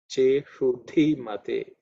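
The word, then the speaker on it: iṣudhimate: Okay, again the same sha, which is cerebral sha, and dhi is the fourth letter in the tha varga, so it has to be aspirated. Cheshuddhi mate.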